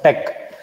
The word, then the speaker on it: TeX: This is pronounced as tech, or TX is pronounced as tech.